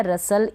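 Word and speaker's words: rustle: टी यहाँ पर silent है, ई का प्रोनाउंसिएशन नहीं है, रसल बन गया।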